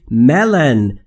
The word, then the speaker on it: melon: ملن یعنی ملون، ما در فارسی بهش میگیم ملون اما در انگلیسی ملن تلفظ میشه.